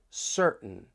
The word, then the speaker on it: certain: And with the American accent, when you have the T followed by an N, that T may get changed to a glottle T.